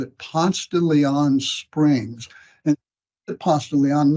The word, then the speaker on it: Ponce de Leon: in our own term in southern way we pronounce it Ponce de Leon and not consider daily that's how the Springs